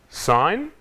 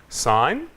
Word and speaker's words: sign: Sign, design, foreign. Quando a letra G é ao lado do N, não pronunciamos. Sign, design, foreign.